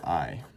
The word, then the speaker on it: 愛: 11 12 13 remember this one you pronounce I and that means love